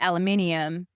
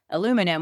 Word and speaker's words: aluminum: But then they changed it to aluminium like plutonium like the ems and then they changed the Americans changed it back to aluminum which is the original describers way that he wanted to spell it.